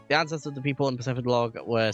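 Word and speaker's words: Pacifidlog: but I wanted to make our way to Pacific Log Town. Is that how you pronounce it? Pacific Log? I always thought it was Pacificlog.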